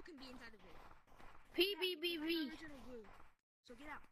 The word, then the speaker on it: pbbv: You said pbbbv. pbbbv is mad. pbbbv. No, you're saying it wrong. It's pbbv. Join code WHY.